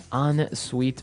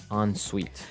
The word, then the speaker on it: ensuite: ensuite bathroom ensuite bathroom unsweet bathroom sorry another note on the spelling here it's e n right hyphen s-u-i-t-e so even though it's e-n we pronounce it like an o-n yep ensuite so an ensuite bathroom